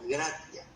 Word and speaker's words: gratia: Gracia viene de la palabra en latín que se pronuncia como gratia. Y el significado como tal